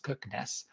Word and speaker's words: Kirkenes: the way up to kirkenes kires that's how you pronounce it at the top and